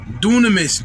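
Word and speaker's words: δύναμις: And this word power in the Greek is dunamis, or if I say it correctly, dunamis, D-O-O-N-A-M-I-S, dunamis.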